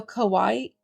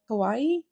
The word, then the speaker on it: kawaii: this I don't know it's like Hawaii but with a k so kawaii kawaii accessory set from the